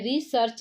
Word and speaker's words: recherche: ठीक है, अब देखिए आगे हम बात करते हैं, रिसर्च शब्द का सही अर्थ में फ्रांसीसी भाषा के रिसर्च, देखिए फ्रांसीसी भाषा में रिसर्च जो स्पेलिंग देखिए ऐसे है, RECHERCHE, रिसर्चे बोलेंगे।